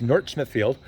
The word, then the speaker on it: North Smithfield: will of Northern Rhode Island of course that's North Smithfield you got to say it right folks you don't pronounce th it's North Smithfield uh but it really is the gateway to